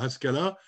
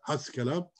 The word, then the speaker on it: Haskala: retranscrit en français puisque en français on ne prononce pas les h mais dans la plupart des langues on les prononce dont louis on est beau c'est la haskala qui veut dire l'esprit